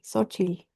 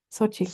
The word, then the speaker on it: Xochitl: ¿Qué nos dice Xochitl? ¿Cómo se pronuncia, perdones? Gracias, doctor. Buenas noches. No hay problema. Como que si fuera una S y no tuviera la T. Xochitl. Xochitl.